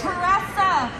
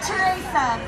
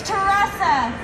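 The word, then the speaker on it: Teressa: spell it together and it's teresa not theresa it's teresa let's elect her let's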